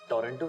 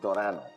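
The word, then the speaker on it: Toronto: टोरेंटो शायद इट्स नॉट टोरंटो। इट्स टोरनो। T silent है।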